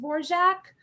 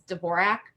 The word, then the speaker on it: Dvorak: stage name um so she initially wanted it to be pronounced borjack but almost out of the gate the common pronunciation was dvorak so she just conceded defeat really early on and so i've always